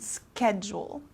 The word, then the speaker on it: schedule: if i'm available so this sch kind of turns into like a k sound schedule okay february this is